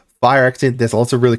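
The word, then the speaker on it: Phyrexian: attracta grand unifier um fire Xian I pronounced it wrong last time I apologize fire Xian there's a lots of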